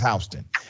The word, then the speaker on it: Houston: county called HST County it's spelled Houston but it's HST in hon County a sheriff's deputy decided